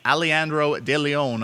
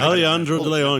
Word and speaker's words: Alejandro de Leon: have a first time Award winner that being aleandro de Leon of the nipple and Hawks Nice pronunciation thank you Alejandro de Leon yeah shout out the Fraser Valley Thunderbirds u18s